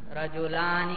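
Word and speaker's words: رجلانِ: رجلانی، الف کو پڑھ رہے ہیں بھائی، الف کی وجہ سے لام کو لمبا کیا یا نہیں آپ نے بھائی؟ رجلانی تو تلفظ ہو گیا الف پر، الف نہ ہوتا تو پھر یہ لام کا فتحہ لمبا ہوتا نہیں ہوتا بھائی، سمجھ میں آیا؟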